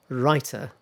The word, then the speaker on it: writer: because what happens is the T in writer is voiced sort of like voiced um it sounds a bit like rider okay so the first one writer second one rider writer